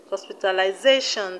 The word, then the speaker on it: hospitalization: is on fact fac we have hospitalization hospitalization the stress is way z e stress zone z e we have experimentation